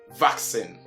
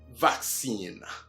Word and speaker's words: vaccine: And this word is never vaccine, as commonly heard, but vaccine. Say it again, vaccine, not vaccine. So it's not sin, but what? Seen. Seen.